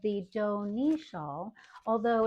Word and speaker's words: Dohne: It is called the do shaw, although it's spelled D O H N E.